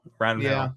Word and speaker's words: Rangel: Rangel. There you go. Yeah, I was struggling with how to pronounce that name the other day.